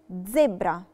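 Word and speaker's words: zebra: ز مش زي الإنجليش بننطقها فيها زي تي قبليها. ز زي كلمة زيبرا.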